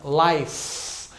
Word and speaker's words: life: Então, por exemplo, em alguns casos, você vai colocar uma palavra no plural, a palavra life, que é vida, life. Letra E no final é muda, né?